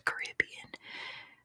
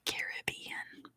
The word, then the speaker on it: Caribbean: it's the Caribbean yes the Caribbean or Caribbean you get both ways very good good question